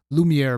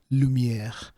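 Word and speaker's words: Lumière: one hit lumier assault lumere by the way stands for actually it's pronounced lumier and it is French for light uh lumier so assault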